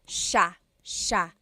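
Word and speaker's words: siya: It looks like it should be pronounced sa cia but it's actually pronounced sha sha.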